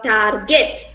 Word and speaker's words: target: it as tarjet or target but here the r sound here is silent and we pronounce this